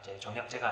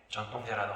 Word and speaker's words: 정통제: 네, 발음 조심하세요. 오해하지 마세요. 정략제로 날 때 정략제가 아니라 정통제라는 황제가 이때 침략을 당하게 됩니다.